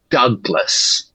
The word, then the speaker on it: Douglas: It would include the name Douglas, right? Even though it's spelled d o u g.